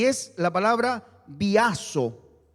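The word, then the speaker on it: βιάζω: Y es la palabra biazo. Biazo con B larga y con Z. Biazo. Y tilde o acento en la A.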